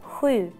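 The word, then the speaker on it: sju: How do you pronounce seven in Swedish? Hui. What? Hui.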